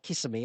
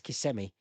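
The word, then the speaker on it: Kissimmee: My my youngest son and daughter, they leave for uh Orlando or KMI, is that how you pronounce it? Not Kissmi, is it? It's KMI. They're in KMI in uh from Tuesday onwards for two weeks.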